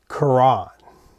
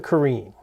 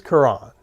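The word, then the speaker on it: Caran: call it the Karen I used to call it the kin but I believe it's Kuran my wife speaks French and I she tells me it and it goes you guys know my pronunciation is idiosyncratic to begin with so we're going with kurran tonight and um I see that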